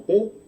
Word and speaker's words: Tet: Se dice de la misma manera Tet, suena como Tet, y bueno, vamos a explicar antes de entrar, vamos a explicarlo más adelantico, qué significa la letra Tet correspondiente a este salmo.